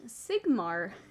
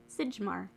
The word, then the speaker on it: Sigmar: oh nolan yes folks it's pronounced sigmar you're welcome sigemar sigmar hammer exposure check being